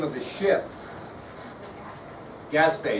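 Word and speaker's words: Gaspee: name of his ship gasps BAE now it's not spelled like it sounds so make sure you get that right okay Maria who was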